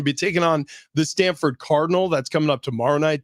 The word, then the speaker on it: Cardinal: to do with trees they're the Cardinal and you may think oh you're mispronouncing that the Cardinals like plural no not the bird the color for all